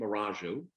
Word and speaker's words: Marongiu: Her name is Marongiu, correct? Yes. And she's pronounced it correctly.